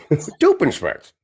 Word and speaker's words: Doofenshmirtz: Doofenshmirtz.